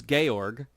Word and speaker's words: Georg: it is an anomaly it might be pronounced G or but in the sort of German style of our current names it would be pronouncing Georg we've got milk Mitch